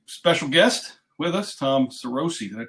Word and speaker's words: Sarosi: I've got a special guest with us Tom sárosi that I pronounce that right yep that's right I hate